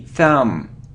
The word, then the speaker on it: thumb: It isn't thumb, or it isn't thumb, it's thumb, thumb. So we don't pronounce B, thumb, okay?